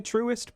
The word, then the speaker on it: Truist: The new Truist Park is how you say that, by the way. Truest Park uh in Atlanta.